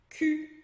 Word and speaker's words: cul: Cul, que é bunda. Então a gente fala cul, tem um L ali, mas a gente não pronuncia.